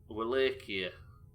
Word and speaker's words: Wallachia: That's not how you pronounce it. Wallachia. That's different to everything I've ever said. Wallachia.